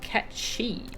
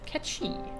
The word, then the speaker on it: Mhach: It's pronounced Catchi. Really? Catchi.